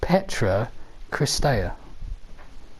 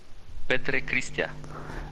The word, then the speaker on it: Petre Christea: And he's a chap called Petra Christea. Okay. Do you want me to say the name in Romanian? Yeah, go on then. Petre Christea. Ah, okay, fair play. That's how you pronounce it.